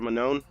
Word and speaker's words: Manon: Manon? Mignon. Yeah, she's French, right? Manon.